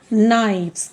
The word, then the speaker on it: knives: So it becomes knives. KNIVES. My dear children, always remember when F or FE is changed into VES, F sound is changed into V sound.